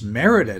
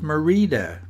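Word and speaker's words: Mérida: we stay in Merida I struggled to pronounce it correctly it's Merida not Merida as I thought it was I said it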